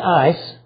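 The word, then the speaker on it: εἰς: The little Greek word for four, E-I-S, see the ace or ice, the pronunciation, and it can mean looking forward or looking back.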